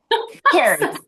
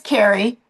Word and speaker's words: Carrie: Kyrie. I'm sorry. Then I'll just butchered your name. Carrie. It's It is Carrie.